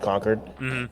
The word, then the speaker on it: Concord: that you know as someone whose like state capital is found pronounced conquered like I'm like that's don't know how you say it Concord like that's conord no no it's conquer um um but so